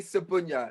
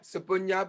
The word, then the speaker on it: Sebunya: many names in america so my last name is pronounced charlie sabunya sabunya because my mom and dad are from uganda east africa oh and then when